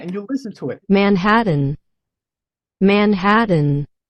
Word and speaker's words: Manhattan: Manhattan, Manhattan, Now notice that the T's here, they're not pronouncing the T. They don't say Manhattan, Yeah, right? Manhattan. She say like a Manhattan.